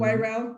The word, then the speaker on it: Wairau: And okay, one of my colleagues, Wairau, am I pronouncing it correctly? Mm-hmm. Wairau, good.